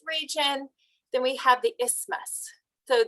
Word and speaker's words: isthmus: then we have the isthmus so the th part of that is usually is pronounced silently so isthmus so let me just